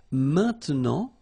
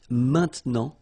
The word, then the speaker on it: maintenant: And then maintenant, okay? Normally we tend not to pronounce this e, okay? So we get this maintenant, maintenant, okay?